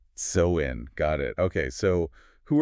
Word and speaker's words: Samhain: It's generally pronounced Samhain? Samhain.